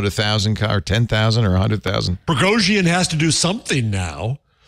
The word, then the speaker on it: Prigozhin: Oh, I didn't know that's how you pronounce Prigozhin. You pronounce that Prigozhin? Prigozhin. I put the extra syllable.